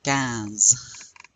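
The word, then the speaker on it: quinze: Think of a bunch of soup cans. C ns the word in English cans. But give it a nasal accent. Cans.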